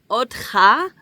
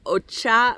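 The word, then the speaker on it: אותך: It's otcha, but if you're not exactly great with Hebrew, you might look at that and go, ocha, right?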